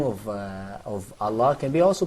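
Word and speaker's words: الله: For example, when you say Allah, so we don't say Allah. Yeah. Can you see that? So we say Allah.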